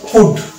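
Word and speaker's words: would: হচ্ছে ক এ রস ড তাহলে এটা হচ্ছে উড ও ইউ এল ডি কুড formula কি আছে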